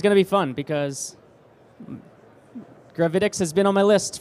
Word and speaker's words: Gravitics: Oh, yeah, Gravitics.